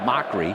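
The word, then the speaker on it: Macri: It's spelled M-A-C-R-I, but pronounced Mockery.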